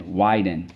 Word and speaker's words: widen: Rule four but again notice we drop the silent e if we didn't it would be why Dean okay and then that's